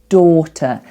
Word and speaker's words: daughter: So the first vowel sound we have there is or. I know it's not spelt like or, it's spelt like dow, really, A-U-G-H. Oh my goodness, what a strange spelling. But we pronounce it like or.